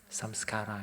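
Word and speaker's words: saṃskāra: What we call sanskara. Sanskara, yeah? Changing, moving, seeing, not samsara. Samskara, yeah?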